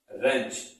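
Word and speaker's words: wrench: पढ़ेंगे बेंच क्या बढ़ेगी रेंज इसमें भी व साइलेंट है और रेंज शब्द का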